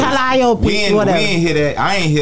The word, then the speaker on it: Calliope: The biggest thing that I keep hearing about Calliope, right?